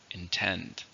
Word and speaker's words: intend: How many syllables are in intend? 2, stress on the second, intend.